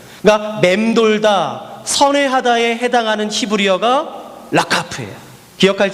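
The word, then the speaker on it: רחף: 꼭 라카프라는 단어예요. 라카프. 이게 사실은 카 발음이 잘 안 돼요. 라하프로 발음하기도 하고 독일 발음처럼 라카프 목에서 나오기 때문에 이 발음이 좀 어려워요.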